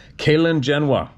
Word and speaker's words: Gxalingenwa: The cave's name is, oh my God, oh, there's a punctuation, thank you, Kalingenwa, but it's spelled Gxalingenwa.